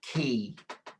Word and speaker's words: quay: fog hangs along the quay. Yeah, that word, it's a really difficult word. QU word. It's actually pronounced key, not Key. qua. Yeah, it's pronounced key, as in the key in the door.